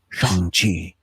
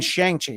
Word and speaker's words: Shang-Chi: It's like, you mean Shang-Chi. No, actually it's pronounced Shang-Chi.